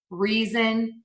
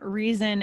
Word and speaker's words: reason: when you see again that letter s between two vowel sounds we're going to pronounce it as a z like in the words cousin reason and teasing so those